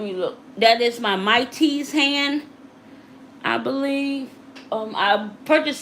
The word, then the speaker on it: Maitys: And it's spelled MAITYS, and that's a store on Amazon.